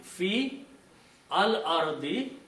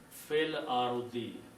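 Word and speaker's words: في الأرض: Okay, so the word is fil arudi, fi al arudi, but when you combine them together, you will read it fil arudi.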